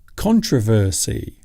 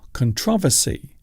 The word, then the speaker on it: controversy: There is controversy or controversy. So there are two ways of pronouncing that word.